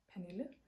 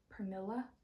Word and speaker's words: Pernille: It always ends up being like Pernilla, and then we always